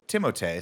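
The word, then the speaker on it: Timothée: we saw that article that said it's actually pronounced timote so we were like oh of course we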